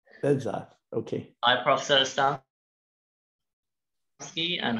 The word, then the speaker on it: Behzad: Bezad. Is that how you pronounce it? Bezad. Bezad.